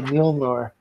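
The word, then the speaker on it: Mjölnir: They even had a crossover with DC where Wonder Woman wielded, I can't pronounce the name of the hammer. That old Mjolnir. Yeah, Mjolnir.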